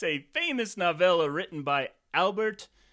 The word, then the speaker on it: Albert: It's a famous nolla written by Albert. It's actually Al Bear. Yeah, that one is right.